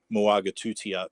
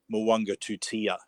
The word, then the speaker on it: Moanga Tutia: The correct pronunciation, we were saying Moaga Tutia, but it is Moanga Tutia. That's right. So you got that sort of silent N into a yes, and obviously the back end of it being pronounced differently too. So yeah, just one of those things. Into the long U, long U sound.